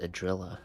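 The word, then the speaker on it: Idrila: Eon of beauty well you know it's pronounced adilla now right so but of course I repeated it again in order to survive adilla the beauty the most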